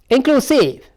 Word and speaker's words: inclusive: About where the syllable is existing. Let's come to the next word. Inclusive.